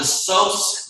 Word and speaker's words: psoas: It's called the psoas major. It's spelled PSOAS major.